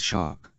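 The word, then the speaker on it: SHARC: Navy calls aark comma Lambert says pronouncing the word as shark or to be more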